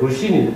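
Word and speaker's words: 鲁迅: 그게 중국에서도 민주화 운동에 있는 노신, 중국 발음으로 루신이 있습니다.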